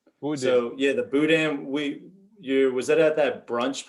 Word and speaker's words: boudin: pronounce it uh well we pronounce it a little bit more like cajun french i guess like boudin yeah the boudin we you was that